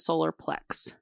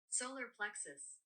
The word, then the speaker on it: solar plexus: Solar plexus. So it is us. Plex us. There's a US on the end.